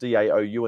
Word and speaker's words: DAOU: uh a couple of Brands uh Dow it's pronounced daou in the US um it's it's so it's